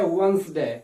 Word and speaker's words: Wednesday: Most of the American English users say Wednesday. Wednesday. Yes, this is acceptable, especially in the American English. But there is the letter, the alphabet D, that is silent. So please all the time say Wednesday.